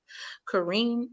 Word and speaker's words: Karyne: And it's supposed to be pronounced Kareem, but I chose not to because of where it originated.